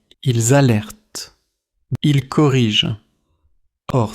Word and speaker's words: corrige: Today's word is corrige. Say it with me. Corrige. The French soft G is like the sound in giraffe, not the hard G in go.